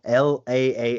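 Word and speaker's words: LAALE: I never know how to read this it's laa l a a l e how do you how do you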